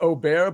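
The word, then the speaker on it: Åberg: me here you said his name was ludvig abber yeah it's actually technically pronounced Oar but it's spelled a b r g okay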